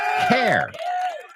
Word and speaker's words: hair: So the word pelo is pronounced hair. That's right. Hair. Ha. Hay una H. Hair. Okay. I know you know the word, but again, I've heard hair. I've heard different variations. It's hair.